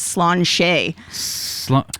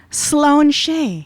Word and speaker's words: Sláinte: say i'm st patrick's day and that's that's slan shay which is why l a i n t e but it's pronounced and i had to look it up sloane shea it's awfully close to schlong i'm just saying